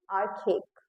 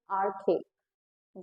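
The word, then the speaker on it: archaic: I have right pronounce पहले तो इट्स आरकेेक यस the pronunciation is आरकेेक यस आर्कक means which is like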